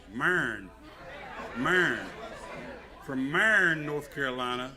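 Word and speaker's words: Marion: Do y'all know how to pronounce that? No, it's Marin.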